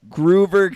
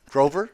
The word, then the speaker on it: Grover: So Groover Cleveland, he's a funky dude. Is he Groover? Grover? Yeah, you said Groover.